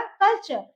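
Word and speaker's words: culture: question इसका हो जाएगा कल्चर टी यू आर टी के बाद क्या रहा यू आर इसका प्रोनंसिएशन क्या हो जाएगा कल्चर नेक्स्ट है देखि क्रिएचर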